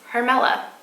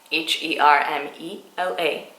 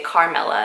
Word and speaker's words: Hermela: My first name is Hermela, Hermela, and every time I go to Starbucks or any other place and I pronounce my name, people hear C, so they say Carmela, and I'm like, nope, it's with an H, it's Hermela.